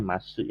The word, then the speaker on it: ます: bentuk emas bentuk emas tulisannya masuk ya bacanya Mas kadang punya terdengar sedikit emas yaitu bentuk sopan Jadi